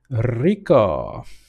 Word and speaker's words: Rico: Listen here, guys. Roll your R's. Rico the Rogue.